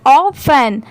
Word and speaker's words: often: गया है, यहाँ पर ऑफन, मतलब यहाँ पर T साइलेंट है, OFEN सिर्फ इतना पढ़ा गया है, यहाँ पर T लेटर साइलेंट है।